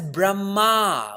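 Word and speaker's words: Brahmā: there too correct but that's brahma with a long a but bhagavan shiva knows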